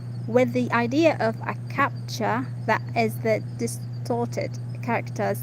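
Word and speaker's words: CAPTCHA: advice advisor advisor with the idea of a capture that is the distorted character that people have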